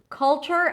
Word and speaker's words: culture: So here we have a dark L, and we begin with a k sound. So when there is a k sound, there's always a little H after when it's at the beginning of a word.